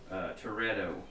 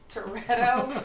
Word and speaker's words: Turreto: it, calls himself asshole Toretto. Now, spell it. Proceed with the spelling. T U R R E T O. Mal. Like Tourette's. Mal. Like Dominic Toretto from Fast and Furious.